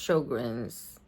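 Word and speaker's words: Sjögren's: If you have sugars, it's called I mean it's spelled S J O G R E N S but it's pronounced sugars.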